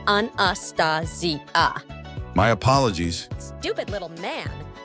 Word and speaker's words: Anastasia: It's pronounced anastasia.